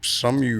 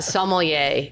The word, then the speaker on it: sommelier: Some some some you're a How do you say that? to say that's that's one of the worst pronunciations I've ever heard. some you're You never took French in high school? No. No. Uh sommelier is a French word.